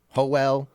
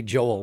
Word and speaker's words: Joel: Joel With an L Joel. is how I had to say it. When I lived in California, they called me Joel. Hoel. Nobody ever called me Joel when I lived in California.